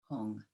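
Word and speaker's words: HUM: in the nature of light stands that radiant syllable blue Hong.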